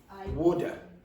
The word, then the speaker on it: woulda: Okay, but when you're saying, you could say, I would have blah blah blah, but how do you contract it? Woulda.